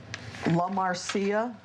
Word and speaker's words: La Marcia: Yeah, her name is La Marcia. So not Marcia. No, not Marcia, no. La Marcia.